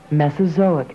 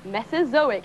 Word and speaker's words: Mesozoic: Here, it tells you what it is, but best of all, it'll also tell you how to pronounce it. Mesozoic era. Mesozoic era.